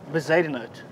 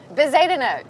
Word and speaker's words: Bezuidenhout: want to set the score for how you pronounce it. It's Bezuidenhout. Bezuidenhout. Christiaan Bezuidenhout, yeah.